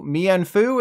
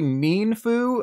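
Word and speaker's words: Mienfoo: those Pokemon they're actually mean Foo and mean Xiao like how it's really mean that the Pokemon company makes us pronounce them this way moving on do you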